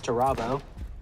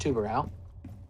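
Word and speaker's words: Tubarão: All right, some people pronounce Tubarao, but it is really pronounced Tubarao.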